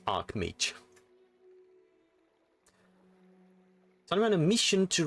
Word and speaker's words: Archmage: So I was like, how do you pronounce that? Yeah, no, there is no I, it's Archmage.